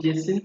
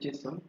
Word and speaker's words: JSON: some people call it Jason some people call it Jon whatever you call it still correct so a Jon is